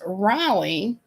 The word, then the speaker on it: Reilly: chicano okay i gotcha my last name growing up was raleigh but it spelled the way the irish spell it r-e-i-l-l-y and it amazes me